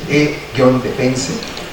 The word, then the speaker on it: E-Defense: es ENIED, o bien E-Defense, E-Defense, así como lo estoy pronunciando, E-Defense, van a ver un montón de videos bien ilustrativos.